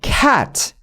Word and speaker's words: cat: 우리말 애인데 턱을 떨어뜨려 줘야 돼요. 이렇게. 그리고 보세요. 이렇게. 되게 바보 같아 보이는 거 제가 알거든요. 근데 진짜 살신성인의 정신. 자, 보세요. 턱을 안 떨어뜨리잖아요. 그럼 이 정도 돼요. 그냥 우리가 생각하는 제가 원하는 건 뭐냐면요. 진짜 턱을 떨어뜨리면 이렇게 이런 소리가 나요. 그만할게요. 이거 너무 보기 좋지 않으니까. 근데 그게 요 애입니다. 해서 고양이를 말할 때요. cat. 이게 벌려져야 돼요.